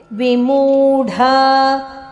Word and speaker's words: ವಿಮೂಢ: ಗುಣಾನ್ವಿತಂ ಗುಣದೀರ್ಘ ಗುಣಾನ್ವಿತಂ ಮುಂದೆ ವಿಮೂಢ ನಾನು ಪಶ್ಯಂತಿ ವಿಮೂಡ ಡ ಇಲ್ಲಿ ಮಹಾಪ್ರಾಣ ಬೇಕು ನಾನು ಪಶಯಂತಿ ಪಶ್ಯಂತಿ ತಿರಸ್ವಾಕ್ಷರವಾಗಿದೆ